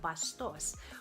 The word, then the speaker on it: basto: Next, we have bastos, which in Tagalog means rude, crude, or vulgar. The word in Spanish is actually basto without the S and with the accent on the first syllable.